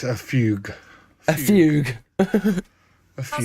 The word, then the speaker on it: fugue: Shaun, it's a fugue. A fugue. A That fugue. sounds right. A fugue. How it is pronounced in classical music.